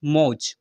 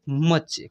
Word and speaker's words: much: ऐसे पढ़ लेंगे, MUCH मौज, मौज पढ़ते हैं। नहीं मेरे भाई, इसको पढ़ेंगे मच। क्या पढ़ेंगे? मच।